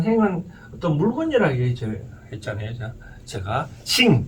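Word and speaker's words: 行: 제가 싱, 발음하려면 싱.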